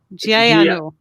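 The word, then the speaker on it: ਜੀ ਆਇਆਂ ਨੂੰ: Can you please pronounce it for us? Yeah. Yeah, it's how do you say it? Jayanu.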